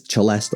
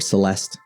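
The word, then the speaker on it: celesta: I've heard this instrument pronounced two different ways, celest or celeste.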